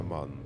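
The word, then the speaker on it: MAN: А в мене ман може меня ее ну вимовляється ман.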